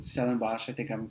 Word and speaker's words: Stellenbosch: It's Stellenbosch. I think I'm pronouncing that right.